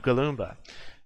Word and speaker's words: Galoomba: Congratulations to Galoomba, pronounced relatively similarly to Goomba, but with Gal at the front.